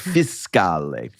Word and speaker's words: fiscale: And he's like, it's not a fish. It is not a coda fiscale. It's fiscale.